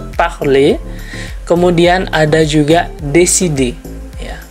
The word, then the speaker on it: parler: Kemudian ada kata yang lain seperti parler, ya, tulisannya parler tapi dibacanya parler.